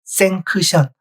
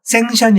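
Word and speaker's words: sanction: K 있죠가 있으면 뭐죠예요 원래 발른 기우는 생크션이에요 생크션 여기 있는 거 아무것도 없어요 생크션 있데 발음 교회는를 써 놓고 발음할 때는 안 했어요 다시 한번 들어 볼까요 션 생크션 안 했죠 생션이 했어요 생션네 어렵죠 바른 기호를 배웠고 바른 기호대로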